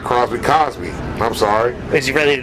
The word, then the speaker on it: Cosby: No, but yeah, man, I hear Crosby, and I'm not even anywhere close to Bill Cosby. But damn, Mike. Yeah, I put an R in it.